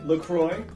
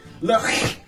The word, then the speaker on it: LaCroix: Now, some people will say LaCroix, others LaCroix. Those are actually both wrong. The correct way to pronounce the name of this drink is actually LaCroix.